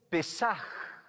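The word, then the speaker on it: פסח: Y se pronuncia Pesaj, ¿ya?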